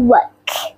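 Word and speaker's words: walk: এল উচ্চারণ হবে না, এলটা সাইলেন্ট। work.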